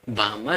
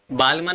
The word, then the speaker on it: Balmer: बामर series. बालमन मत बोलना, एल यहाँ पर साइलेंट है, इसको हम बोलते हैं बामर सीरीज।